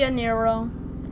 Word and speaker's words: Niro: it's not I'm sorry it's called the Kia knee roll nairo whatever TI niro so that's how you say it I didn't know